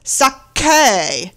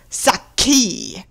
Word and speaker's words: sake: Japanese sake Mr bone it's sake not saki this film also wouldn't